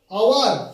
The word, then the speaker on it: hour: আওয়ার, HOUR, এটা হাওয়ার তো নয়, এটা হনারেবল নয়, এটা হাওয়ার নয়, এটা কি আওয়ার। তাহলে এর আগে কি বসবে? আ উচ্চারণ চলে আসছে আমব্রেলার মতো, আমব্রেলা যেমন আ উচ্চারণ, এখানে আওয়ার, তাহলে কি হচ্ছে অ্যান আওয়ার।